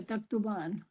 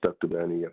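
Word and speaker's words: تكتبانِ: So there's a sukun there, taktuban. No, it's supposed to be. Sorry about that. It is. It's just not pronounced usually, but there's a kasra here. Taktubani. Oh, taktubani. Oh, okay.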